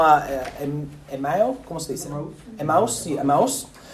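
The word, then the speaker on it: Emaús: Emmaus, sí, Emmaus.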